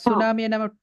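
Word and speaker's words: tsunami: இத நம்ம Guinea read பண்ணுவோமா கே சவுண்ட் மாதிரி சுனாமிய சுனாமி டிசுனாமி அப்படி சொல்லுவோமா நைப் வந்து கினைப் அப்படின்னு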